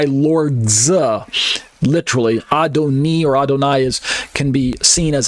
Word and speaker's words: Adonai: meet an orthodox Jew instead of saying Adonai uh sometimes you'll hear them say I don't know almost sounds like adonoy in Hawaii instead of